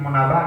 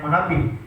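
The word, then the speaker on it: Munabbih: Qala Fi riwayati Wahab bin Munabah, berkata rawi dalam riwayat Wahab bin Munabah, dari bacanya Munabih.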